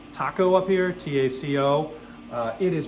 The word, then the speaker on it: Taco: You see that this says Taco up here, T-A-C-O. It is pronounced Taco. It's a very rookie mistake to make if you go in looking for taco parts.